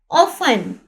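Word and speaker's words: often: यहां पे ये देखिए ऑफन में टी यहां पर साइलेंट है। ऑफन कहते हैं अक्सर। ठीक है? यहां पर ओ एफ टी इ एन T right तो होगा लेकिन यहां पे इसकी साउंड या प्रोनाउंस ये नहीं होगा।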